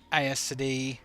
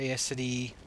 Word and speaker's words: Aes Sedai: And I love how the Aes Sedai, or Aes Sedai, Aes Sedai, however you want to pronounce it, that's their icon.